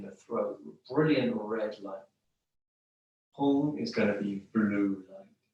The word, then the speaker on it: Hum: Hum, we can spell it H-U-N-G, if you like, or H-U-M, with a dot underneath the M. Hum.